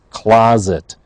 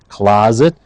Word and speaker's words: closet: your the word is closet please notice this the pronunciation the S is pronounced as a zed closet a small area for